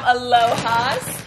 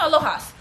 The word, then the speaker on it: Alohas: a huge package from alohas they reached out and said that they alohas or aloha no alohas because there's a nice um i think that's how i pronounce it but they reached